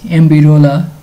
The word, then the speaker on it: MBROLA: for free TTS API I'm going to pronounce it as ambira I think you guys